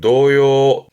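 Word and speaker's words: 童謡: 발음은 노요 해서 아이들의 노래에 동요를 말하는 노요입니다.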